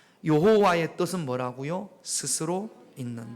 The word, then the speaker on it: 여호와: 스스로 계신 분이라고 하지 요게 이스라엘 말로 히브리어 말로여 호 와라고 발음이 되는 겁니다 여호와의 뜻은 뭐라고요 스스로 있는